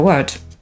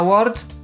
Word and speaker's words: word: Na pewno warto pamiętać o tym, że słowo „word”… Słowo „word”. Widzicie, co tu zrobiłam? Pomimo że piszemy je przez „o”, nie czytamy go przez „o”, więc wymowa „łord” nie jest poprawna.